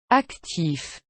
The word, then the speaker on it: actif: For now, concentrate on pronouncing the endings of words like these. Un club. Avec. Actif.